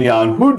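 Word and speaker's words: Hudde: in particular dutch mathematician young hood it's how he pronounced his name and isaac bauer in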